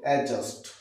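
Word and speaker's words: adjust: যে এর সামনে আছে এডজাস্ট এডজাস্ট রং প্রোনাউন্সিয়েশন ঠিক আছে আমরা বলবো এডজাস্ট তাহলে তাছাড়াও আরো কিছু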